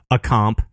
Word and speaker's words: A-Comp: mean, big thanks to A-Comp. That's how he pronounces his name. I pronounce it A-Comp. A-Comp. Like everyone in this room right now will be calling him A-Comp.